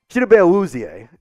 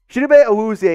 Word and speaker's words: Chidobe Awuzie: Chidobe Awuzie is the correct way to say that name.